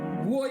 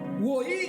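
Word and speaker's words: Rohi: Woi qui s'écrit R-O-H-I.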